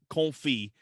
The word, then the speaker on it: confit: it out loud yeah cold fee it's spelled confit so that's us americans have a problem with it but anyway basically it it's sounds like cold yeah exactly cold freedom